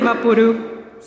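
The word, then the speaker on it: Vaporub: It's like Vaporu. Yeah. When I realized that it's vapor rub, I was mind blown.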